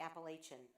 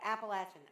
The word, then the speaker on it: Appalachian: And it is Appalachian. I know you Yankees say Appalachian. That's not right. It's Appalachian. I went to school there. I know how to say it.